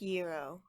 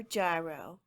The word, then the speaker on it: gyro: tonight I am making the classic Greek Euro or Gyro however you want to pronounce it they are good hi everyone and